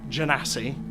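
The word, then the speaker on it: genasi: you're looking at is a fire genesee with a soft G apparently a fire jackass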